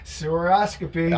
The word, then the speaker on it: Sewer-Oscopy: Tell your company because I always mispronounce it. Sewer-Oscopy.